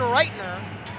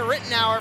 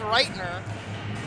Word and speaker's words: Reitner: Sincere apologies to Evan Reitner, as that is actually how you pronounce his last name. We've been saying it Rittenauer for a little while now. It's actually pronounced Reitner.